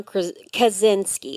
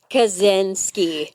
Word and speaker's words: Kaczynski: I'm not mathing it, but so Theodore John Kaczynski, and that's how I want to it's- say Krasinski, I know, too.